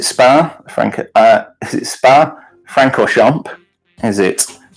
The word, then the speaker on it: Spa-Francorchamps: and don't know how to say Franco Chomp spa-francorchamps anyway next question this one good apparently I'm